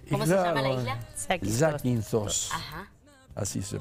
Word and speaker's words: Zakynthos: Zakynthos. Así se pronuncia.